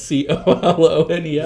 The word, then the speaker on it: Colonel: Why do people say Kernel? There's no R in Kernel. That's spelled not like Kernel at all. It's C-O-L-O-N-E-L.